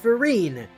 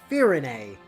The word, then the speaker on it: Firene: Like Firene, which looks like it should be pronounced Firene, but it's pronounced Firene.